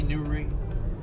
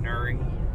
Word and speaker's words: Newry: Well, I think it's supposed to be Newry. My dad pronounces it Nury. Like N-U-R-R-Y. Nury.